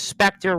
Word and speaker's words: Specter: uh Tam here says Specter rhymes with Vector I had thought about